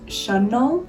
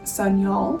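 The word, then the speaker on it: Sanyal: I was like, well, maybe I should start saying my last name in the way that it was meant to be pronounced in Bengali. My last name is Shunnol, but like the way that I would say it in English is Sunyol, and that's fine.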